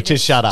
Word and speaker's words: SHUTURP: Or just SHUTURP?